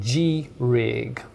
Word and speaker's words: G-Rig: If I had to recommend one, I would say look at G-Rig, or I guess you could call it Grig. It's spelled G-R-I-G.